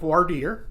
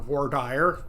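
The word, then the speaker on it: voir dire: jury selection you have what's called wardir or War dire depending on how you say it yep um and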